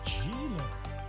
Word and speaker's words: Geeler: Geeler. Benny Geeler, according to the pronunciation guide for the Stanford I Cardinal.